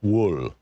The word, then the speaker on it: Will: He pronounced the name Wool. Wool, Wool. He said it a couple more times, like he hadn't said it in a while.